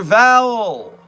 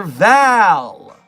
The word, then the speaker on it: Val: Val. Dr. Val, who is not Dr. Vowel. Can I buy a vowel? It's the A in Val that is not vowel.